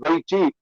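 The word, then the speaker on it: weiqi: But in the Chinese equivalent of chess, which is called Wei Qi or Wei Kui, it's written as but pronounced as Wei Qi, you have to surround the enemy.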